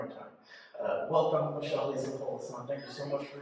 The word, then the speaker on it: Polissaint: So my name is Michelle Lisa Polissaint, properly pronounced Michelle Lisa Polissaint. I feel like I'm trying to do better at actually pronouncing it the way my parents named me.